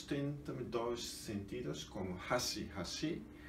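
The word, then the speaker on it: 橋: Mas se for falado, pronunciado, ponte e hashi, grave, agudo, hashi. E pauzinho é hashi. E agudo, grave, hashi. E ponte, hashi. E pauzinho, hashi.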